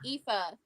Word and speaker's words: Aoife: Aoife. It's spelled Aoife.